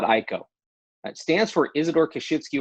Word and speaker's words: IKO: So a lot of people pronounce it IKO. A lot of people pronounce it IKO. We'll answer to either one. But when I talk to the family that runs the business, they call it IKO.